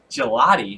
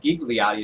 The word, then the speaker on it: Gigliotti: fight Trevor Smith against Joe gelotti not gigliotti as I originally thought apparently the g is silent there uh for the UFC